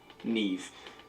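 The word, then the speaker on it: Niamh: just okay so this is how you actually pronounce them nev shivon naomi oh y'all created the naomi name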